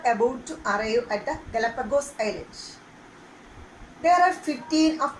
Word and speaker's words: Galapagos: I shall tell the spelling: Galapagos, not Galapagos. Pronounce it Galapagos. Okay, the pronunciation is Galapagos Island.